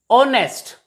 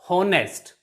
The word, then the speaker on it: honest: as are not har honest not honest h is also silent here and h e i